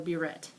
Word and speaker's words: burette: of equipment called a burette. Okay, it's spelled like one of those little French hats, like a beret, but it's a burette.